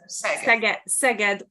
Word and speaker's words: Szeged: And she is working at University of Szeged. Szeged is the 4th largest city in Hungary, actually. So it's a university of large city. Szeged, yeah. Let's ignore the Z, and then it's easy to pronounce it.